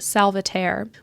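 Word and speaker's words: Salvaterre: his last name so that is pronounced salvat we meet Lord whan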